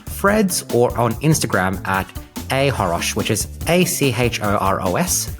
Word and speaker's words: achoros: They can find me on Threads or on Instagram at ahoros, which is ACHOROS. The C is silent.